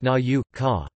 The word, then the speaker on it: nauka: The letter U represents with in the digraphs O and EU in loanwords, for example Autor, Europa, but not in native words, like Naka, pronounced Na-U, Ka.